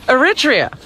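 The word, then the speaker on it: Eritrea: Zabiba, how do you pronounce that country, Robin? Aritria.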